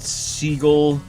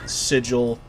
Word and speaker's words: Sigil: I've heard it pronounced Seagull and some other ways. I pronounce it the same way as you pronounce the word vigil. So, Sigil it is, and Sigil